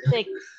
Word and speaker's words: six: Six. Six ya. Tapi bukan se, tapi six.